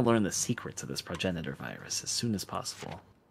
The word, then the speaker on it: progenitor: The virus discovered in that flower was labeled progenitor. For 3 months in Africa, we worked diligently, fretted over results, and staved off Ryan attacks. is pronounced progoginator, obviously. Progenitor. I'm kidding.